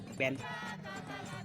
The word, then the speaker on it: bien: When the I is removed, it will make the word to be pronounced as Ben. So the I is just put there to intensify the effect of the intonation or on the E, on the letter E. So instead of pronouncing Bien, we will pronounce Ben in Bari.